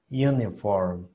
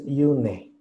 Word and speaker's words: uniform: No es E, porque no es una E normal, no es une.